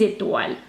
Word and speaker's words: étoiles: With a silent E and an S, because you're going to talk about stars. Étoile. And how many? 10. 10 étoiles.